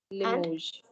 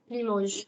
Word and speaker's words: Limoges: and Limoges. Limoges. So you're not saying Nantes, you're not saying Rennes, you're not saying Cannes, and you're not saying Limoges.